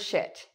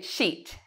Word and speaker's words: shit: Students often mispronounce the word shit. They say sheet, sheet. You see, they smile when they say it. Shit is not something you smile about.